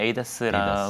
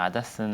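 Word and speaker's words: ADAS: 보통 최근에는 에이다스라고 에이다스. 하는 것 같고요. 네. 제가 생각하기엔 아다스는 아마도 좀 일본 쪽 영향을 받은 아. 발음이 아닐까 이렇게 좀 생각이 됩니다.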